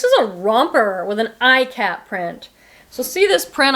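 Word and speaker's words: ikat: And this is a romper with an iCat print. So see this print? I'll hold it up closer. It's iCat.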